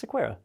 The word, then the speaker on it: Sequeira: It's Sequeira.